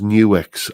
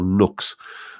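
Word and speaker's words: NUX: about one of these new x i think it's pronounced new x it's spelled n-u-x i never quite know whether it's new x or nooks uh one of those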